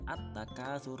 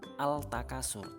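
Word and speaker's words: التكاثر: Contohnya at-takatsur. Ya, cara bacanya at-takatsur, bukan al-takasur tapi at-takatsur. Alnya hilang.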